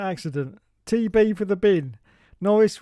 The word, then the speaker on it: Norris: Norris rhymes with Boris.